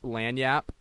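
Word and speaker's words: lagniappe: probably nervous now um anyways uh the word lanap what lanap lanap lanap uh it's spelled l a n i a p PE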